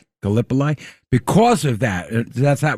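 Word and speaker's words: Gallipoli: Because of how do you say galipoly? Galipoli.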